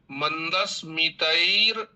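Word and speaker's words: मन्दस्मितैर्: अत्र मन्ये मंदस्मितैर निंदित शारदेन्दुम, यहाँ पे बच्चों को भ्रम शायद हो रहा है कि न के ऊपर जो र लगा हुआ है वह मंदस्मितैर के साथ में उच्चारण करना है। मंदस्मितैर निंदित शारदेन्दुम। अब यहाँ पे हम सृजल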